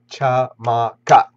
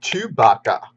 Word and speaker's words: Chamaka: My name is Lady Chamaka. That's three syllables? Chamaka. Yep, three syllables. Not Chewbacca.